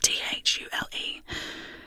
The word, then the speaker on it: Thule: The extreme limit, northernmost land, often called Ultima Thule. Oh, Thule, beg my pardon, it's capital Thule. This is pronounced Thule, with the stress on the first syllable.